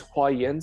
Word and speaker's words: Huayan: So the Chinese Huayan system, so that's how you pronounce the phrase, the Avatamsaka Sutra is a Huayan Jing in Chinese.